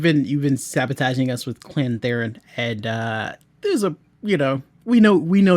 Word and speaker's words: Theron: So it's Theron. but yeah, you've been sabotaging us with Clan Theron, and there's a we know you're doing that,